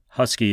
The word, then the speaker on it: Huskee: Husky is spelled Huskee.